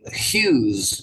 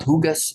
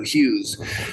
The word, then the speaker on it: Hughes: and notice his surname Hughes so not hugas that's actually used to be a star in Indonesia yeah hugas orali but in English you don't pronounce the G so Hughes and um she had